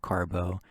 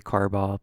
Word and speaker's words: Carbo: week though is John Carbo I feel like should be carball but the pronunciation sheet says carbo which I finished just